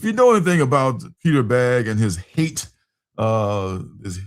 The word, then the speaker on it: Bagge: Baggy? Is that his name? Peter Bagge. Yeah, the U is silent, yes.